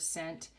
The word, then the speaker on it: cent: and you'll see that that word cent is a soft C so it sounds like it's spelled with an S but it's really spelled with the C okay so we're gonna